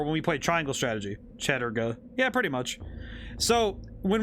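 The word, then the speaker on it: Chattur'gha: That's he pronounced it Chaturga, but whoa, I'm really far away.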